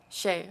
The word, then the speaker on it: Shea: we'll begin with you am I pronouncing your name okay how should I pronounce it Shay okay sorry perfect so